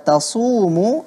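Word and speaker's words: تصوموا: Kata tasumu itu huruf sad, jangan sampai berganti menjadi huruf sin.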